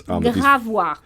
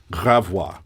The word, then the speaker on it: Gravois: Gravois. Gravois. Gravois.